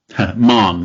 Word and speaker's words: Mahon: pronounced your surname correctly mon it's one syllable it's almost pretend the o isn't there got you got yeah